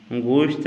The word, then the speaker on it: گوشت: گوشت۔ گوشت نہیں پڑھنا ہے، گوشت پڑھنا ہے۔ گاف پر یہاں پر آپ نے ضمہ پڑھنا ہے۔ گوشت وہی گوشت، ہم